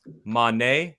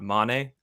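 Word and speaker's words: Mané: Did you know that, technically speaking, it's Mane and not Mane?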